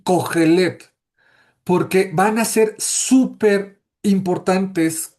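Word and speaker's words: קֹהֶלֶת: Y esa palabra en hebreo se pronuncia, bueno, es una palabra diferente, es cogelet, es la palabra cogelet y significa lo mismo, maestro o predicador.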